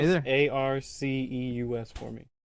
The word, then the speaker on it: Arceus: I don't know Pronounce either. Arceus for me. Pronounce what? Arceus for me. Arceus?